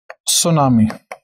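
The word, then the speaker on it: tsunami: सुनामी। सुनामी, ये मत बोलना सर को स्पेलिंग नहीं आती, सुनामी के आगे टी लगता है।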